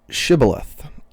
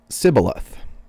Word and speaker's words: Shibboleth: When he said, No, they said to him, Then say Shibboleth. And he said, Sibboleth, for he could not pronounce it right.